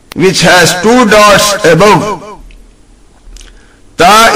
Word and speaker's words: ت: Ta is pronounced by joining the tip of tongue and the root of two teeth of upper jaw, and should be read soft as ta, ta. To, to is wrong.